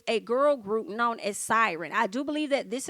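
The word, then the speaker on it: Psiryn: And it's Siren as in P-S-I-R-Y-N. I believe that's how you say it, but they can sing.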